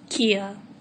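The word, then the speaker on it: Keyhai: I'm Kia. Hello. Not like the furniture store. It's spelled differently. It's like K-E-Y-H-A-I. That's how I spelled it.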